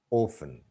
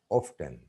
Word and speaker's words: often: Listen, often. T is, in both the words, T is silent or mute. But the second word often is also pronounced often. It has two pronunciations, special, commercial.